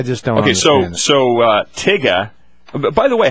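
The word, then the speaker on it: Tyga: uh Harvard is inviting tigga who is a a prominent rapper in the Young Folks Society of Life tigga tigga spelled t yga a yo what's up so it's phonetically that's right phonetically spelled and apparently there's getting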